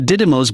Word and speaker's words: Didymos: DART for short, and the mission involves NASA launching a spacecraft that will rocket towards the Didymos binary asteroid and collide with it.